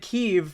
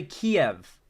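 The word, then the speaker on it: Kyiv: that's a good point that's how Russians pronounce keev ukrainians say it keev Russians say Kiev oh that's a good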